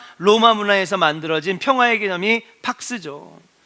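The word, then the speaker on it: Pax: 박스. 박스라고 합니다. 박스. 아, 박스는 여우구나. 박스. 박스. 예. 피발음 팍스.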